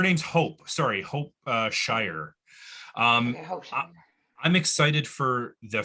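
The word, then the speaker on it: Schrier: I I love sorry go ahead ebony oh schreer I think that's s-c-h-r-i-e-r I know she's she schooled me it's actually pronounced Shire but uh Habib I'd love to ask you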